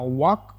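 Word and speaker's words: walk: ತಿಳಿ ತಿಳಿಯಿರಿ ಅಂತ ಆಗುತ್ತೆ ವಾಕ್ ವಾಕ್ ನಲ್ಲಿ ಎಲ್ ಸೈಲೆಂಟ್ ಆಗುತ್ತೆ ಆ ಎಲ್ ಸೈಲೆಂಟ್ ನ್ನ ರಿಮೂವ್ ಮಾಡಿ ನಾವು ಇದನ್ನ ವಾಕ್ ಅಂತ ಪ್ರೊನೌನ್ಸ್ ಮಾಡಬೇಕು ಹೀಗಂದ್ರೆ ಕನ್ನಡದಲ್ಲಿ ನಡೆ ನಡೆಯಿರಿ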